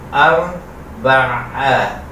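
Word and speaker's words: أربعة: Hindi siya normal na a. A. Kasi ang normal na a, ang pagbigkas ay a. So, sa Arabic kasi dalawa ang alif. Dalawa ang a. Dalawa ang a. A na alif. A na ain.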